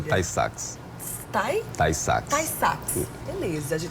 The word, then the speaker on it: Tay-Sachs: A pronúncia é Tay-Sachs.